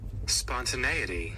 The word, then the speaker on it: spontaneity: to I get to look at how it's pronounced and what it even means. Spontaneity.